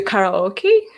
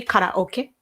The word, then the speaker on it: karaoke: young kids go to karaoke the pronunciation by the way is officially karaoke it's at the end it's kind of okay but english speakers they say karaoke okay it's like huh